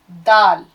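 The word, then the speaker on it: دال: खे के बाद दाल, फिर है डाल। लिखने का फर्क देख लीजिएगा। दाल डाल, दाल किसे कहते हैं? दाल कहते हैं द, हिंदी में द, इंग्लिश में डी।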